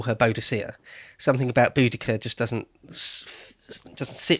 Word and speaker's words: Boudicca: or more um and you're supposed to say boudicca now apparently that is the agreed